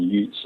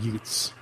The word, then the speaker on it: Ute: And by the way, I want you to explain the name of that Indian again, because people listen to that and they think you're from Brooklyn. You're talking about Utes. I'm serious. Ute is spelled U-T-E.